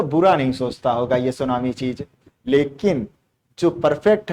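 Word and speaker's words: tsunami: और हम चहिए और सुनामी के बारे में वह करते हैं शुरू होता है इसे लेकिन साइलेंट होता है सूनामी ओके क्या होता है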